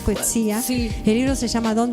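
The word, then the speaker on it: Coetzee: el tema y por Coeti, creo que se pronuncia Coetsía.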